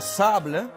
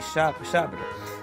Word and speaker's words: sabre: So, and the same thing for saber, like sabre, sabre. Some people will say sab as well, but it's supposed to be sabre.